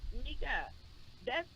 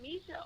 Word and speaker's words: Misha: Mika. Is it Misha or Mika? Misha.